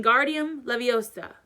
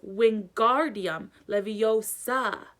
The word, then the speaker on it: Wingardium Leviosa: having much luck when Guardium Leviosa he shouted waving his long arms like a windmill you were saying it wrong Harry heard Hermione snap its Wingardium Leviosa make the GAR nice and long you do it then